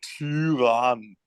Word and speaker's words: Tyrann: der Tyrann. Yeah, the Turan. Actually, the emphasis should be on the ends. So even though the Y has a special pronunciation, don't emphasize it too much.